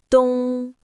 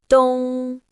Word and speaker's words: 冬: It is pronounced in the first tone. Repeat after me. dōng, dōng, dōng.